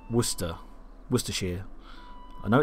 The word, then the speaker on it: Worcestershire: those that speak American English, some of the pronunciations like Worcester, Worcestershire.